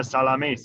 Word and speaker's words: Salamis: are the first goalkeeper back again with nai salamis i hope i pronounced it right yes yes salamis yes i i spent the half season